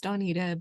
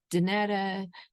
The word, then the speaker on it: Donita: a big pronunciation person my name is Donita but people pronounce it danetta Danita all kinds of different I even had somebody pronounce it Don Wida and I think they got